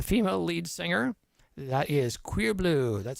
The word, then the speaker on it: Cuirbleu: If you like some sexy electronica with a female lead singer, that is Queer Blue. That's spelled CUIRBLEU.